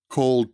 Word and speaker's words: cold: point is the pronunciation cold turkey he went called turkey so the d at the end of cold is reduced and it's practically not there cold turkey cold turkey